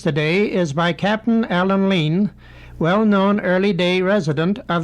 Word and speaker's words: Lean: the Nan's brothers and the wad Studio captain lean's name was spelled l e aan and pronounced Lean by the family but public usage chose to pronounce it Lan Mrs Emily stubs of Nelson was a receptionist